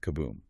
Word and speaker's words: Cuboom: His main outlet is the Cuboom Club, pronounced kaboom. It's this exclusive, very discreet club in Berlingame.